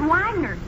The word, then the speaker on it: Wagner: says it's by Richard Wagner oh oh oh yes a naturally I know that particular piece is by Vagner that that's pronounced vogner son I simply said